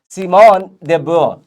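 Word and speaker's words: Simone de Beauvoir: ये देखो सिमोन दे बुआ ऐसे पढ़ते हैं।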